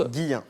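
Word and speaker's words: Guilhem: Tout à fait, Et mais ça se prononce Guillain.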